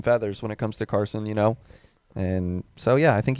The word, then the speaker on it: Carson: Carson Hocevar. That's right. Mike Davis's is to pronounce his name right.